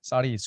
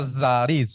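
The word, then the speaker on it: סריס: un Eunuco en hebreo se dice zaris saris con same saris no con no se pronuncia zariz No saris sí o series también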